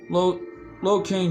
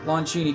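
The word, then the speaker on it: Lon Chaney: through a lot in the horror genre but Lo King Jr uh has sorry pronounced the name right Lon Cheney Jr thanks has been through a lot in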